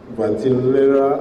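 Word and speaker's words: Vitellaria: Vatillaria, I asked him to show me how to pronounce it.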